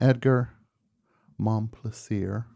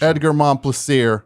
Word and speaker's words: Edgar Momplaisir: and Edgar Momplaisir. Fantastic pronunciation. Edgar Momplaisir.